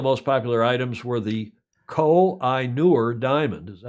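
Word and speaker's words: Koh-i-Noor: some of the most popular items were the coal I knewer diamond is that how you pronounce it yeah Kohinoor you know that did you try to buy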